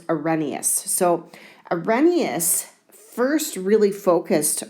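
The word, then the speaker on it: Arrhenius: of acids and bases weird-looking name it's pronounced a reneus so Ramius first really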